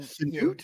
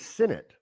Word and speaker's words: Sinnott: And Sinut? Is that how you pronounce his name? I thought it was Sinnott. Sinnott. Well, Sinnott. Well, then it's Sinnott. Sorry.